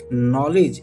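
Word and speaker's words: knowledge: नॉलेज यहां पर भी के क्या होता है? साइलेंट के एन ओ डब्ल्यू एल ई डी जी ई नॉलेज का मतलब होता है ज्ञान।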